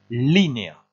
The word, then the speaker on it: línea: Vous faites attention, le Z ici se prononce comme un S, empieza, et ici il faut lever la voix sur le I, línea.